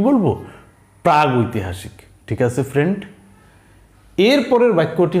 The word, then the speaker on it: প্রাগৈতিহাসিক: এখানে সেই কথাটাই বলা হয়েছে যে ঐতিহাসিক কালের পূর্ববর্তী, ওই সময়কে আমরা বলি প্রাগ ঐতিহাসিক। কি বলি? প্রাগৈতিহাসিক।